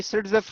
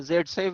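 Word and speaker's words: Zaitsev: यही सिट्जेफ रूल है, जेडसेफ भी कहते हैं इसको, सिट्जेफ भी कहते हैं। आप प्रोनाउंस दोनों तरह से कर सकते हो, स्पेल कर सकते हो।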